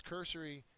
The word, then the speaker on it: cursory: slippers on uh because cursory is an adjective first syllable accented and it means Hasty